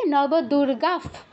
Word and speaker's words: নবদুর্গাঃ: বিসর্গের পর প বা ফ থাকলে ফ হসন্ত উচ্চারণ করবেন। ফলের ফ, ফুলের ফ, ফ হসন্ত কি হবে? নবদুর্গাফ, দুর্গাফ, প্রকীর্তিতা, প্রকীর্তিতা, তারপরে বিসর্গ আছে প্রকীর্তিতাহা।